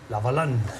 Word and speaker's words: Lavalin: La empresa se llama SNC Lavalin y parece ser que... Sí. Lavalin, pronunciado en francés, gracias Antonio.